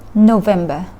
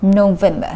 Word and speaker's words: November: อ ก เ สี ย ง ว่ า November น ะ ค ะ เ น้ น ที่ พ ย า ง ค์ ที่ 2 เ ห มื อ น กั น น ะ ค ะ November แ ล ะ เ ดื อ น สุ